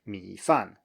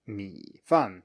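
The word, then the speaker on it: 米饭: 米饭, 米饭, just low and then falling. 米饭. And this is a good opportunity to compare this because, as you can see, the low tone is actually falling a bit too. 米饭, you start low and you go lower, as it were. But 饭 starts all the way from the top and goes all the way down.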